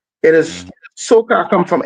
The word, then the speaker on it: soca: know, the description of soca is it's not soulka. It is Mm. soca come from, it's spelled SOKAH.